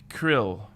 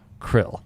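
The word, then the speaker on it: Kirill: top there ryan uh that would be krill krill krill i gotta kinda get the i in there if i krill to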